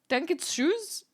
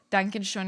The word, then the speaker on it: Dankeschön: Dankeschön if you want to be correct. I don't even know if I'm saying it right because that O, like with the 2 dots at top, really fucks me up.